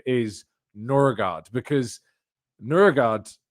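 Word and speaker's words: Nørgaard: name is Norard because Nurgard, if I'm pronouncing that correctly because the O obviously with the accent on it is a kind of sound. It's a like Urugard. It's a Nurard.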